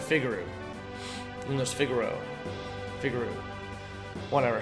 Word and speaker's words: Figaro: first to figaro figaroo i always pronounced it figaroo in this figaro figure